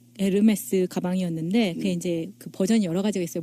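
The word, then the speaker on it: Hermès: 이렇게 쭉 발언이 않는다고 요금 이에요 h 가 발음이 안 되니까 우리가 업로드 홈 라고 하잖아요 무게 프랑스 남부 들으면서 에르메스 는 고유 브랜드 그리고 그리스 신화 중의 한명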